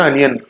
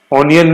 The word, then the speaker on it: onion: प्याज से याद रख लो इसको, प्याज है, प्याज है ना, अनियन, ऑनियन नहीं बोलते हैं, ऑनियन, ऑनियन नहीं, ऑनियन नहीं, अनियन, अनियन, अनियन, ठीक है, ऑनियन नहीं, अनियन, ठीक है, ओ नहीं, अनियन, ONION, अनियन की स्पेलिंग